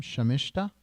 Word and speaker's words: Sharmishta: Sharmishta.